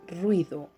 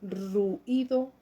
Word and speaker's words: ruido: Y decimos en este poema, en este verso: y cansado por eso de la gloria, ruido ensordecedor, pido piedad para mi oído.